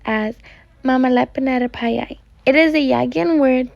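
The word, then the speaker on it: mamihlapinatapai: This word is pronounced as Mamihlapinatapei.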